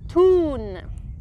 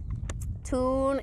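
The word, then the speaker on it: Thun: it yeah very good it's pronounced toon toon it's located at the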